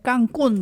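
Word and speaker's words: Cancún: 칸쿤은 아예 깡꾼 이렇게 발음하는 게 훨씬 더. 거기 가면 다 그렇게 얘기하더라고요. 깡꾼.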